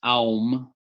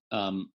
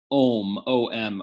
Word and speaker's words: Om: that's a deep question ohm om OM is correct okay but when you're doing a special tantric practice called achada then ohm is pronounced oh okay so that whole home thing which was popularized by the you know Moody Blues and others in the 60s the the sacred word